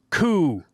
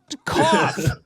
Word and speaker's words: cough: Through is pronounced through. Through? All right, fine. Then he developed a hacking coup. Cough.